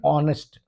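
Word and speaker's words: honest: दूसरी बात, ये एच से शुरू जरूर हो रहा है, लेकिन हा का साउंड नहीं आ रहा है, क्योंकि वो साइलेंट है, एच साइलेंट है। इसलिए N honourable, an ऑनेस्ट, एन एयर, N over,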